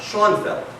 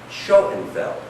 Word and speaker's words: Schoenfeld: again yeah you know it's not Sean Bell the name is pronounced Schoenfeld try it again